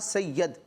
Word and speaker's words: سید: انہوں نے کہا سید, تو یا کے نیچے زیر ہوتا ہے, درست تلفظ کیا ہے سید, سیدنا امام حسین یا